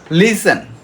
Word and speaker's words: listen: লিসেন, লিসেন, mace, অফেন, অফটেন না, আমরা অফটেন বলবো না, অফেন, বাচার, বাচার। Next silent letter be, যেমন কম, COM, কম, আমরা বি উচ্চারণ করবো না।